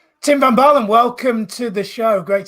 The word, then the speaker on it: Tim van Baalen: Well, I'm Tim van Baalen, as you pronounce so well, Tim van Baalen.